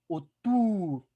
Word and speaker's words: autour: Autour. Autour. Autour. ¿Ok? Esa U que suene como la U de nuestro español. Autour.